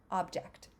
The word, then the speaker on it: object: in that we have the first syllable is is the stress syllable object and an object is